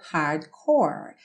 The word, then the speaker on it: hardcore: keep in it so Hardcore Hardcore assim como more percebe que estão rimando e você não pronuncia o e do final Ok more Hardcore repete